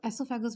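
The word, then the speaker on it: oesophagus: तो इसको एसोफेगस भी बोलते हैं। ओ जो होता है उसको साइलेंट रखते हैं, लेकिन ओ लिखना ज़रूर होता है।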